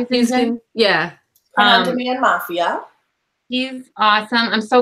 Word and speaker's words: Houston: Houston.